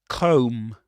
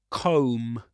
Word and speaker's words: comb: Comb. Comb. You don't pronounce the final B again.